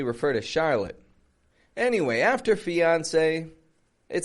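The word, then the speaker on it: fiancé: with one e and that e has an accent on it when we put that marking over top of vowels we call it an accent this has that accent which in French would signify the a kind of sound fiance say fiance now when we're speaking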